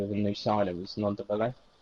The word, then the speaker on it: Ndombele: a new signing was Nondabele. To say his name correctly, it's quite a difficult one Dombele. to. Yeah, it's a Ndombele, hard yeah.